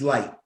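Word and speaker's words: Licht: the general manager um how do you pronounce his last name l-i-c-h-t jason i believe it's light light okay yeah and we went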